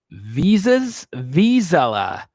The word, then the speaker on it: Vizsla: So yeah, I was like, wait, Des is talking about Skylar Green, and it's pronounced Vizsla. Yeah, they do kind of look like labs, Eric. You're right. Vizsla.